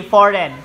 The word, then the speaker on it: foreign: 3 Okay number one the word is foreign Okay silent G foreign foreign del foreigner